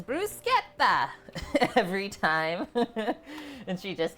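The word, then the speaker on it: bruschetta: of how she said how we say it in North America bruetta but they said it's brucea every time and she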